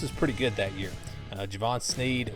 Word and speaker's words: Jevon Snead: pretty good that year Javon Sneed was the quarterback or Jevon Snead I thinks what Holley pronounced it I think they won't